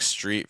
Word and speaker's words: street: some trouble with uh it's the word like Street versus strip um so these are two different vowel sounds so as you're practicing these words make sure you pronounce those differently um Street has a an e sound like in um these or n or um feel okay it's that e sound make sure you're not saying e it's more e with